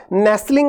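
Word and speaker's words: nestle: मतलब क्या हो गया नेसल आप लोगों ने सुना होगा ये वर्ड इसी से निकला है नेसले देखिए टी है लेकिन साइलेंट है नेसले है ना नेसले नेसले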